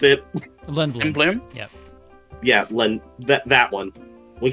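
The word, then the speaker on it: Lindblum: Wait, is that how you pronounce it? Lindblom?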